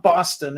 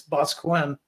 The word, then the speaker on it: Boscawen: Yeah, it's not Boston, it's Boscawen.